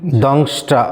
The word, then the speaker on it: दंष्ट्रा: दृष्टा करालानि দংষ্ট্রা একটা অনুস্বার আছে দেখুন, দংষ্ট্রা কারালানি চাতে মুখানি दृष्टैव कलान् কালান सन्निभानि লসন্নিভানি, এভাবে উচ্চারণ করতে হবে।